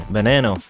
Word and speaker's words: Veneno: the lamborghini bonanno the lamborghini verano spanish pronunciation banano is a limited production